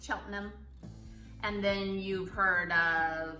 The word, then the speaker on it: Cheltenham: them it's spelled like Cheltenham don't say Chillingham it's Cheltenham and then you've heard